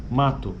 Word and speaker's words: mato: bem essa palavra mato se você escreve a palavra você vai perceber que nós escrevemos m a t o né ou o mato Mas na nossa pronúncia na maioria do do português brasileiro é na verdade sai um u no final né então é mato esse U é bem fraquinho e aqui ele está